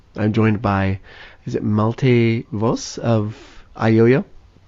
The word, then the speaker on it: Malte Voss: joined by is it multi voz of yo-yo almost perfect in Germany may say multi force with like an F sound for the last